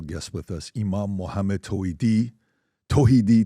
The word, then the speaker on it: Tawhidi: Today we have a special guest with us, Imam Muhammad Toidi. Tohidi Tahawidi depending on how you pronounce it. I'm from Iran, Tohidi.